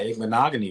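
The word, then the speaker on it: Igbinoghene: I mean, you got Igbenogany right, so that's the hardest one.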